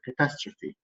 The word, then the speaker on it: catastrophe: ايه اللي باخر الكلام دي بتتنطق ايه كده؟ كاتاستروفي.